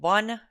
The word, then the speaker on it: Van: uh into Turkey uh the border town called Bun. It is not number one. Van, that's how they pronounce it.